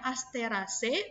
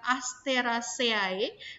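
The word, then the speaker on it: Asteraceae: aster ac1000 Ingatkan Kembali Kenapa Ibu membacanya as Terrace bukan Aster aceae karena dari materi penulisan nama latin itu ya untuk akhiran E atau air jadi Bacanya adalah e-jade Aster asyik yo Yah Ibu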